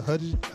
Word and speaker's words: Hudgens: Now Polar is a movie starring Mads Mikkelsen and Vanessa Hudgens. How you say her name? Hudgens. Okay. Yeah, Vanessa Hudgens.